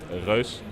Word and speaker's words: Reus: So it's a Dutch game, and we actually pronounce it Reus. We still allow you to say Reus though.